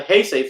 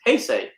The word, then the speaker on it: Heisei: I used to say, all right, so we know the Heisei films it's Heisei. It wasn't until G-Fest 2013 when I realized I was saying it wrong.